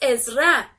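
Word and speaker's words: עזרא: el libro de extras en hebreo es es rap y se escribe así en saint res aleph es ra el libro de zra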